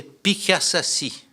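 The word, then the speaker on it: Piḫaššašši: une épiclèse, qui est Pikasasi. Là aussi, comme ça se prononce, P-I, Chet, qui, si vous voulez, A, 2-S, A, 2-S-I.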